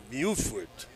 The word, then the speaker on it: Buford: before that was Cameron Buford his name is they're saying it's pronounced Beaufort I don't know oh